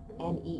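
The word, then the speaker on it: Niamh: if we had Bailey recently NE is cute n e e v e well oh wait wait gosh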